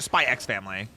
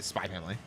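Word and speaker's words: Spy × Family: is it just spy family or is it spyx family do you pronounce the X in that cuz Hunter Hunter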